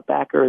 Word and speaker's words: Bacher: a tough on the Packer is actually spelt with a CH so it's like the composer box with an ER at the end so back of